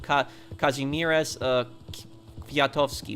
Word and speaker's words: Kazimierz Kwiatkowski: If you ever come to Hawaii, you should check the statue of Kazimierz Kwiatkowski.